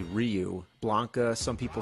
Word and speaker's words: Ryu: in Street Fighter we didn't know rayu was actually Ryu Blanca some people say